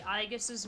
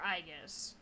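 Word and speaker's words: Aigis: Because, at least by Q2, because of the pun for Aegis, which I always said Aegis, because I think that's what they were going for, it is spelled A-I-G-I-S.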